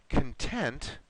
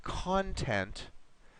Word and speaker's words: content: Remember, the words content and content have different meanings.